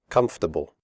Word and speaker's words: comfortable: Comfortable. The word comfortable has 3 syllables, not 4.